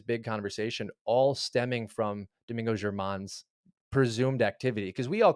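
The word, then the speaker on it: Domingo Germán: For the folks at home, how's that pronounced? Well, Domingo German.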